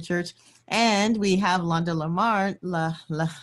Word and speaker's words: Larmond: And we have Londa Larmond. I'm going to say it the French way. I'm sorry, Londa. Londa Larmond.